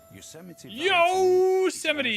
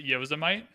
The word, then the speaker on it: Yosemite: Want to know how many years of my life I pronounced it Yosemite? Not an embarrassing amount, but probably 13 or 14 years of age when I learned that was not how you pronounced it.